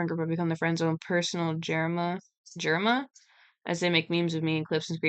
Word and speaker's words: Germa: Um, this is just like germa. Okay. Like germ.